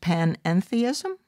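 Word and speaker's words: panentheism: new to me uh which i believe is pronounced pan-enthism yes that's right um well in in in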